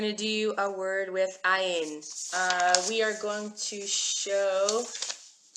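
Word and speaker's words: עין: Yes, this is ayin is another silent letter.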